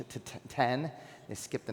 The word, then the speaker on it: X: Big news last week, the iPhone 10 launch. So, it's interesting, there was an article that came out that said people are mispronouncing 10 because they look at the X, they call it the X.